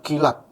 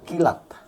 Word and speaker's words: Keelat: di Indonesia kayaknya baru mereknya kilat k e e l a p Bacanya apa ya kilat Thank you kilat ya